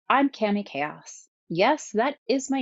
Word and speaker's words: Cami Kaos: of you says, I'm Cami Kaos. Yes, that is my name, and yes, that is also how you pronounce it.